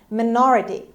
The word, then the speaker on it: minority: minority hustle american english minority as you can see the stress is on ne on the second syllable we had a word